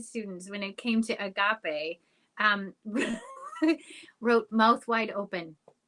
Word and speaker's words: agape: um some students and the word was agape and uh everyone kept on um mispronouncing it as a gape almost it was it was